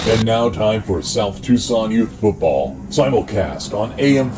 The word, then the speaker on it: Tucson: and desist from South Tucson I will just change it to tuckson why not it's how it's spelled yeah so our second